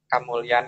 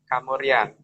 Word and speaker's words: Kamulyan: di kerajaan kerajaan ini ee kalau dalam bahasa kita yang biasa kita dengar bahwa kamulyan itu juga sering diucapkan sebagai kamurian sehingga he kalau ee kalau kita menyebut dalam bahasa Jawa itu biasanya kan ada penghilangan di suku kata depan.